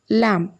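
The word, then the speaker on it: lamb: sound வந்து சைலெண்ட் ஆயிடும் for example லேம்ப் எல் ஏ எம் பி அப்படின்னு இருக்கு இதை நம்ம லேம்ப் அப்படி சொல்ல மாட்டோம் லேம்ப் எம்முக்கு அடுத்து பி வந்தனால பிோட சவுண்ட் வந்து இங்க சைலெண்ட் ஆயிடுச்சு லேம்போட மீனிங் என்னன்னா ஆட்டுக்குட்டின்னு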